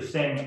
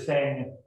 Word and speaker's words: Singh: Pronounced the same, but Mr. Singh, X-I-N-G, has been here in town for some time working other businesses. Mr. Singh, S-I-N-G-H, who bought Lucky's and has other convenience stores in Charlotte.